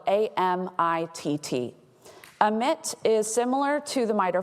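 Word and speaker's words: AMITT: this is a screenshot of the omit framework it's spelled a-m-i-t-t emit is similar to the mitre framework because it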